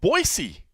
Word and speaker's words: Boise: name is John Morgan coming to you from Boise see I've learned to say it right Boise